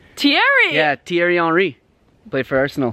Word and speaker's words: Thierry: bad times so theory I'm not actually sure how to say this name this is a voice I know that name because it's a famous soccer player its Thierry Thierry yeah Thierry re-play first